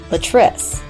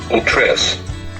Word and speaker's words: Latrice: school named Latrice but the app kept pronouncing it the trip when I spelled her name letr EEE EEE in the button message area the app pronounced her name correctly a tris increase scroll down and